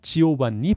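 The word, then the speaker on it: Giovanni: 데카메론이라는 이야기를 썼던 사람 보카치오인데, 이 보카치오의 원래 이름도 지오반니 보카치오입니다. 이탈리아에서는 요한이 지오반니로 발음된다라는 걸 알겠습니다. 그리고 지오반니를 여성형으로 할 땐 지오반나 이렇게 발음한다는 것도 알아두시면 좋겠습니다.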